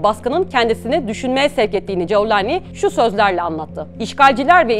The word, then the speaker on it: Cevlani: Golanlı manasındaki kelimenin Arap medyasında Culani veya Cevlani şeklinde lehçeden lehçeye farklılık gösteren telaffuzları mevcut. Biz bu videoda Suriye'de yaygın olarak kullanılan Cevlani'yi esas alıyoruz.